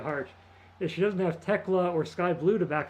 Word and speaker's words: Thekla: I think it's pronounced Tekla. Thekla. It's Austrian.